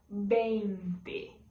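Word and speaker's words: veinte: No português a gente fala 20, no espanhol bente. Bente. Lembrando que todos vão ter essa pronúncia com o B, porque eles não fazem o som de V.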